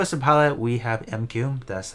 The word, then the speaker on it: M'Quve: that as far as the pette we have mq that's how you pronounce his name um I would say skip